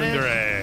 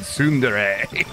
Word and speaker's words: tsundere: Is that Sundere.